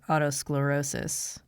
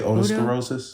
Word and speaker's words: otosclerosis: have some questions about your Autos sclerosis is that how you say it yeah o I usually say otosclerosis otosclerosis yeah it's a rare genetic